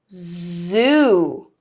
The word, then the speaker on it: zoo: Sue okay next it's Zoo so although it's a similar sounding word the s UE is unvoiced but the Z in zoo is voiced so we have Su